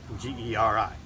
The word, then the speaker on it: geri: If you were reading it in English, it would look like Gary, G-E-R-I. But the pronunciation is geri.